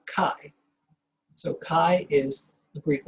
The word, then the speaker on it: chi: is written chi but is pronounced chi to be rhymed with hi some people say chai squared and that apparently